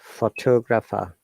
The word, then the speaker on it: photographer: As you see, in photograph, we're stressing on the first syllable. Okay, 3 syllables photograph, but we're stressing on pho and photographer. So 4 syllables, but we're stressing on 2. Then photographic, 4 syllables, but stressing on third sound.